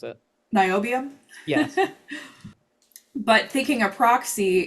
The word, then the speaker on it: niobium: And then lanthanum versus NB, whatever NB is, I always mispronounce it. niobium.